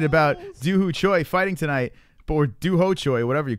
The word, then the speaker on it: Choi: I mean, everyone is excited about CHOI fighting tonight, or ho choi, whatever you call it. Is it it's ho choi? I keep on saying ho choi. Regardless, we're all excited. It rhymes with bok choy, you know, the most favorite vegetable of Asians, you know.